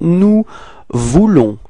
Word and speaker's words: nous voulons: So, now for nous, first person of the plural, so it's nous voulons, okay? Final S is not pronounced, nous voulons, repeat.